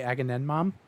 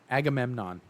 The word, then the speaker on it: Agamemnon: What sucks is every time I think I am saying it right, I say agenmom and then I'm like, okay, mom is not a part of that word.